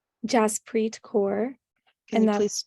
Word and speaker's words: Jaspreet: Jaspreet Kaur. Can and you please that's- spell that?